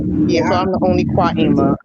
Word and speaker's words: Qimmah: How all the Qimmahs, even though my name is pronounced Qimmah.